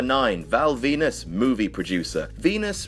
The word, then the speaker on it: Venis: Val Venis movie producer Venus rhymes with penis do you get that